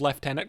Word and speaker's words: lieutenant: Um I will defend that they pronounce left tenant correctly. yourself. You're like, "No, it's lieutenant."